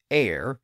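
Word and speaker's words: heir: a word to have an H that wasn't pronounced like honor and honest and air h e i r as we saw earlier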